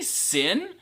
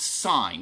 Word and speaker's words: sin: Secant, oh, by the way, don't say sin. We don't like sin. Sin's bad. It's always pronounced sine. Even though it says sin, we're going to call it sine.